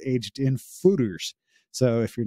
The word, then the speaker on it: foeder: for the smallest size fooder uh it's a Dutch word uh it's it's spelled f-o-e-d-e-r but it's pronounced f-o-o-d-e-r so it's like fooder um and it uh